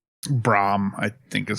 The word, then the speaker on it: Bram: named Bram Stoker I think is his name Bram braam I think is how people proun Brian braam